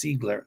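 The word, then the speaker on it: Ziegler: his last name is Zigler in German it's Zigler the IE is like pronounced like z um or e um you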